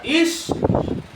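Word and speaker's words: אִישׁ: Porque el mismo idioma, hermano, hebreo, que Adán se pronuncia Ish, ese mismo idioma hebreo, para mencionar el nombre de Eva, se pronuncia Isha.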